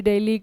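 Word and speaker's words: Dili: है दिल्ली ठीक है अब इसे प्रोनाउंस जो है आपका दिल्ली डेली किया जाता है जैसे हमारी दिल्ली है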